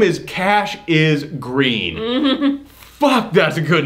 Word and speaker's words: Cassius: They pronounce it Cassius. So like 20 minutes in the movie, I realized his name is Cash is Green.